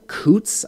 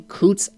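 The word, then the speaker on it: Coutts: sitting in uh uh coots i think is the pronunciation kutz alberta these are made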